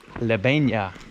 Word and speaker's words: Lebeña: So we've arrived to the village of Lebeña. Ah, muy bien. Buena. Good pronunciation.